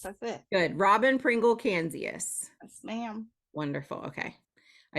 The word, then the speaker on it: Canzius: So it's, how do I pronounce your last name? Canzius? Oh, yes. Okay. You got it on. Yes, that's it. Good. Robbin Pringle Canzius.